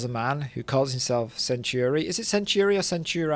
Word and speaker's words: Centauri: Alex tells a man who calls himself Centuri. Is it Centuri or Centuri? I can't remember how they say it. Centauri.